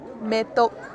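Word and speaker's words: མེ་ཏོག: Our first syllable, ma dengbo me. Our second syllable, ta naro to ka tok, me tok.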